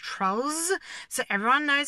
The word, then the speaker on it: Trollz: Oh, and we're going to put a Z on the end of their name, so it's pronounced Trollz, so everyone knows it's ours.